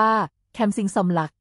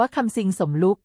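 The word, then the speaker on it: Somluck Kamsing: ใน ครั้ง นี้ สมรัก ใช้ ชื่อ ภาษา อังกฤษ ว่า แคม สิง สม หลัก โดย เจตนา ให้ มี ใน ทาง โชค ด้วย แต่ ผู้ บรรยาย ภาษา อังกฤษ อ่าน ออก เสียง ว่า คำ ซิง สมรุ่ง ซึ่ง การ คว้า เหรียญ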